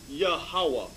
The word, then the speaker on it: Yahawah: consonants go ahead instead of v instead of b so what does this prove that the name of the lord is yahuwah not jehovah read on it says the